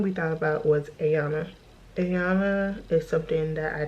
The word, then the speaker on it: Iana: But it's spelled Iana, but pronounced Ayana.